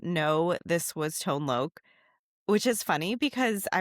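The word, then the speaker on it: Tone Lōc: Tone Lok. Yeah. Yeah. Pronounced with an H. I've been saying tone lock for a long time. Uh short for locator.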